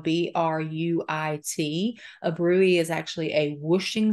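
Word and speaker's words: bruit: here would be osportation of a Bruley which is spelled b-r-u-i-t a rui is actually a whooshing sound that happens up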